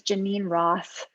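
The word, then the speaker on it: Geneen Roth: and practices like a mindful chocolate eating is janine roth her name is spelled g-e-n-e-e-n roth and she's written a ton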